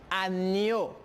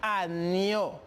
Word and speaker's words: agneau: Numéro 8, on identifie le son ña, igual como en espagnol. Por lo tanto, je prononce agneau. Repito, agneau, oveja, en espagnol.